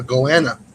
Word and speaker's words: goanna: or guanas, depending on how you want to pronounce it, if you're Australian. Iguana? No, guana. That's what, like Crocodile Dundee. A goanna.